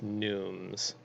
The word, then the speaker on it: neumes: So just a little humor down here using gnomes, not gnomes. It's spelled similar, but it's neumes.